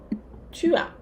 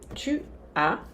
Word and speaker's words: tu as: Você tem, tu as. Tu as, o S não se pronuncia.